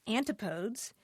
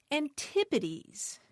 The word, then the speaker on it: antipodes: a n p o DS he wrote isn't pronounced antipodes it's pronounced antipodes and you know what he's exactly right the